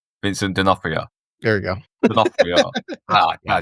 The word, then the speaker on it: Vincent D'Onofrio: Vincent D'Onofrio. Vincent D'Onofrio.